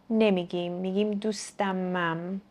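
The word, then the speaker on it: دوستم هم: with this intonation Or here, I can also say: Notice that here, I said "dustamam" (dustam ham) but we don't pronounce the /h/ in "ham" We say "dustamam"- I'm bringing my friend with me.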